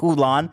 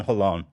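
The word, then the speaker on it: Holon: is oolan oh alone you didn't even get close to saying it right I was like who won Moses and Hilo are born in a city called alone cologne no not hulon sounds like Mulan I lived in hollon h-o-l-o-n all right let's wrap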